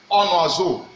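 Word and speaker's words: un oiseau: Then here we have onwazo.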